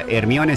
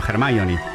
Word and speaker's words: Hermione: Muchos también se enteraban con la película que no era Hermione, sino Hermione.